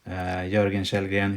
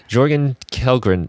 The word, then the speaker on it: Jörgen Kjellgren: Jörgen Kjellgren, if you can spell that.